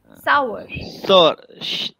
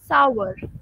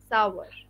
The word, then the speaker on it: sour: it in the chat you can try to pronounce it shower not shower okay sour sour shower ah yes this is correct sour that's how it is pronounced actually my medium